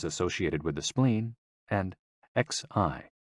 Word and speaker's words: xi: And XI, pronounced like shi, which connects the whole body.